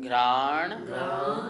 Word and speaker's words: घ्राण: यहाँ तक पढ़िए, स्पर्शन, रसन, ये जो घ्राण है यहाँ पे थोड़ा सा अपन जोर लगा के बोलेंगे तो और भी शुद्ध उच्चारण हो जाएगा।